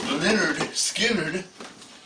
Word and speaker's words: Lynyrd Skynyrd: Pronounced Lynyrd Skynyrd.